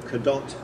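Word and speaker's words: Cadot: scholar told me that kadot there is either Norman or um or Breton and the T would be pronounced and so the family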